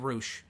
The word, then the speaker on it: Roush: I mentioned earlier Roush did I say frosh I meant Roush that I should have said I apologize if I mispronounced it's actually Roush I thought it was Ross its Roush it's it's not the band from years ago its Roush but um he's an